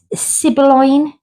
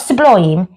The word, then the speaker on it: Sibylline: Sibylline. Not sublime. Sibylline. Or is it Sibylline?